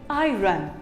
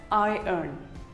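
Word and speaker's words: iron: of it call it i run well it is wrong it is actually pronounced as i n i n you can even say it as i earn i earn who doesn't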